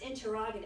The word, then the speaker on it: interrogative: Remember, Is it interrogative or is it interrogative? well, it's pronounced interrogative.